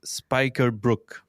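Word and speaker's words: spijkerbroek: you say jeans and apparently we the way you say that is spikerbrook okay you know we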